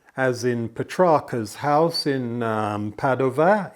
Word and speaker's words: Padova: in Petronas house in Padova in Italy and yes for those of you were terribly clever you'll probably think does he mean Padua it's just that I'm preferring the Italian pronunciation Petrarca as opposed to